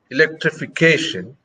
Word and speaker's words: electrification: But when you say electrification, you have a stress on cation.